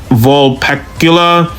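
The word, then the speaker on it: Vulpecula: So calling it fox rather than vulpacula doesn't really bother me unless I said that wrong.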